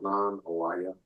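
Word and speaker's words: Nanih Waiya: They talk about how the tribe was created in a place called Nan Awaya, is how some of the elders pronounce it.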